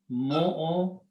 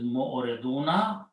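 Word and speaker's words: معرضون: Okay, plural is mu'oriduna. When you stop, you pronounce mu'oridun.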